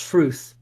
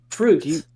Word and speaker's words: Fruth: Oh, my name's Fruth. Faruth? Yeah, Rhymes with Oh. Ruth. Fruth.